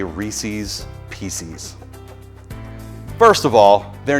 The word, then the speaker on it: Reese: The man's name was Reese. That rhymes with peace.